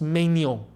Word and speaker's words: Maignan: In France, his name is pronounced Mano, right?